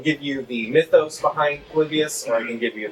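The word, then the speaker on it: Polybius: I saw you had the infamous arcade back there and um hopefully I'm pronouncing it right. Palibius. Yeah, Palibius.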